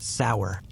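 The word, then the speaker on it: seiðr: Now slide with me into the flicker-lit realm of seer, pronounced sour, like a secret whispered through teeth.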